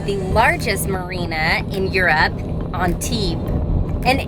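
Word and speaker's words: Antibes: largest marina in europe on t and it's pronounced on t without the s at the end i always screw that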